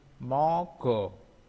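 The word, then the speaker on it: 먹어: Ini mogo, mogo, mogo. Jadi tulisannya kan mok o, bacanya mogo. Jadi ini karena ini bertemu dengan huruf vokal, pokoknya setiap dengan vokal ya, semuanya ya.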